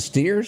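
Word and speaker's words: Stiers: shows that's the only reason as David you pronounce it steers Ste you'll remember him as um Charles wi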